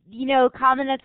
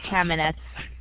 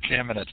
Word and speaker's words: Kamenetz: Kamenetz is probably more correct from a Slavic point of view, but we say Kamenetz. Kamenetz.